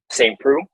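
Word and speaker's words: Saint Preux: saint how do you say his last name saint prue yep same crew and saint prue came out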